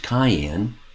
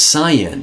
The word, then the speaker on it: cyan: c y a an it's not pronounced Cayenne that's a red pepper right it's cyan the opposite of red